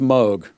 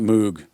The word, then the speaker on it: Moog: It's pronounced Moog. It's not Moog.